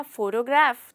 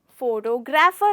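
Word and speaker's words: photography: इसी से ही मिलता हुआ वर्ड है फोटोग्राफी, ना कि फोटोग्राफी। वो बहुत ही गलत साउंड करता है और वो बहुत गलत प्रोनाउंसिएशन है। इसे हम कहते हैं फोटोग्राफी।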